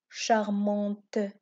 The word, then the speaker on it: charmant: découvre qu'il y à la lettre ces charmants charmante dont le mot charmant on n'entend pas le